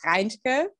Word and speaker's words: Reintke: as you like but i would say it's reindeer and so it's a lot of hard german um consonants so i get it